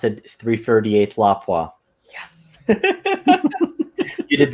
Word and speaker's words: Lapua: just pronounced it 338th lapwas yes you did not call it 338th lapua and for those that are watching yes the correct pronunciation is lapwa not uh lapua the other one i